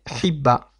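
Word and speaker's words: חיבה: Ensuite, le mot suivant est Hibba. Hibba, qui s'écrit avec un het, un point en dessous, un yud qui accompagne le point en dessous. Donc ce yud là ne sera pas prononcé, il est muet.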